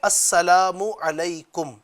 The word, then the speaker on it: السلام علیکم: یاد بھی ہو جائے۔ ایک تعداد ہے سلام کو سلام علیکم، السلام علیکم یہ بولتی ہے، السلام